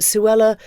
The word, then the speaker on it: Suella: not making fun but Suella does kind of rhyme with Cruella and you just can't